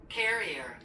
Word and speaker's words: carrier: 캐리어, Carrier.